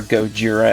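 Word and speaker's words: ゴジラ: Japanese title logo for Godzilla right there or goira as it's pronounced in Japanese we have the Bandai Namco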